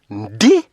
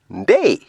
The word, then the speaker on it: Ndii: stop the bba process d now first of all his name is pronounced day not d but i believe at